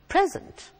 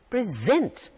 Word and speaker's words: present: the same word but the stress is on the second half present it becomes a verb and the same word